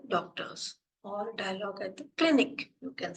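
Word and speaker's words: Klinik: Then for clinic, the spelling is different, but the pronunciation is same. Spelling is K-L-I-N-I-K, but the pronunciation will be clinic only.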